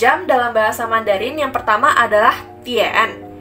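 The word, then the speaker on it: 点: Nah, kata pertama untuk jam dalam bahasa Mandarin adalah dian. Dian. Dian. D I A N. Kita bisa membacanya sebagai dian.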